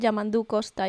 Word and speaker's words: Yamandu Costa: It's called Yamandu Costa.